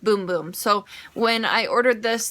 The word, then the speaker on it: Bum Bum: I know it says bum bum but in Portuguese it's pronounced boom-boom so when I ordered